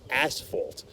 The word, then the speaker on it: asphalt: So for those of you who really want the true pronunciation, it's asphalt, just like the asphalt, that you put on your the pavement. That's called asphalt.